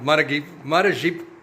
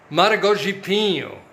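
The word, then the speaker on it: Maragogipe: them at the source in a town called Maragipo, I can't barely pronounce it, Maragipo, would have been half that, but still, $15 for the two of them, quite reasonable, I think. And I like them both. Maragogipo, that's the name of the town.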